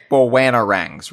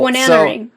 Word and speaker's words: Bananarang: He's sort of we should talk about the Bowanarangs really quick, because the standard one is a banana. What am I saying it wrong? I feel like you're losing a syllable in there. But it's a mouthful. Bananarang.